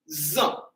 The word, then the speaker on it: ils ont: Zon. So we hear the sound Z. Z. All right, but to say they are, okay, because this gets some confusion. Ils ont and elles sont.